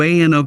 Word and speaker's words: ANO: Hi everyone, welcome to ANO Camera, pronounced Ano.